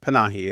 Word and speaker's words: Panahi: Panahi, is that how you say it? I think that's how it's pronounced. Panahi.